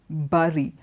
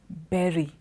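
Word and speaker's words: bury: there and me say Bari but Bari is wrong it is berry it does not rhyme with curry it rhymes with berry cherry it's Barry ok bu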